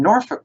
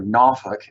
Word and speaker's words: Norfolk: And in Norfolk, Virginia, or Norfolk, as they say, the locals say, there was the Jacques Cousteau Society, and I wanted to be an oceanographer.